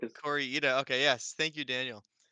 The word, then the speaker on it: Kore-eda: And yeah, we wa we watched a movie called Monster which came out in 2023 by Hiro Kosu Cora, I think is Corya.